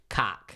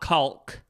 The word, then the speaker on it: caulk: If you Google how to pronounce that word, it's actually cock. It's not caulk.